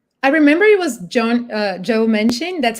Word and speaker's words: Joe Manchin: And I think it's like, I remember it was Joe Manchin, that's how you say his name, that was